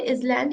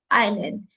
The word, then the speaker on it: island: Is it island? No, it is not island, it is island.